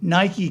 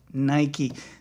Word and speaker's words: Nike: You know, like when Nike came out, a lot of times people said Nike, and it took people quite a while to get Nike.